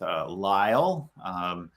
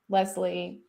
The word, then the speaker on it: Lisle: and I'm really excited to be here with Lisle. Did I pronounce that correctly? You did, which well done. You get 5 stars because All that's right. most people Five-star pronounce review. it Lisle or Leslie.